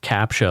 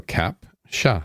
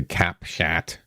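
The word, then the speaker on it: Cap-Chat: a t oh okay so I thought it was Capa like as in what I have to do before I log into PayPal No Cap sha or as the Americans say cap shat okay so it's cap sha so kitty yeah so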